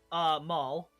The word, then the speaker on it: Maul: Maul. Maul. Would you spell that for the notes? I'm gonna say M-A-U-L. Same as the Star Wars character.